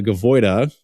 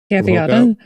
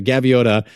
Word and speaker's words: Gaviota: This is the new shoe I can't pronounce correctly. The Gavoida. Gaviota. Damn it. Okay. So the Gaviota from Hoka, the 6 has also been awesome.